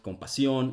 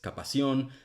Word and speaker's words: compasión: Instead of compasión, he says capación, which is a fertility surgery.